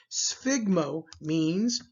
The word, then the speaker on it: sphygmomanometer: figma notice the pronunciation the pH makes an F sound sphygmomanometer MS sphygmomanometer the last